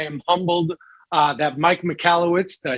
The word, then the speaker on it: Michalowicz: long time i am humbled uh that mike michalowicz did i say it right you nailed it